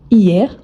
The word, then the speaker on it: hier: Donc hier, on ne prononce jamais le H, c'est un H mué.